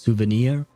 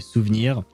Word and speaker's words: souvenir: Uh, it's pronounced well technically in English it would be pronounced souvenir. Uh, in French it is actually souvenir. Well, you could pronounce it souvenir if you really want to try it. But yeah, if you speak real fast it would be souvenir because it is a French word.